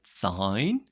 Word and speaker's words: sine: You pronounce it sine, not sin.